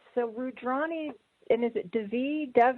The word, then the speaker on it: Devi: So Rudrani, and is it Devi? How do you say your last name? Actually, it's Sanskrit, and it's pronounced Devi, like Davy Crockett. Oh, very cool. I know. It's tricky. So Rudrani Devi, she is a certified facilitator with Access Consciousness.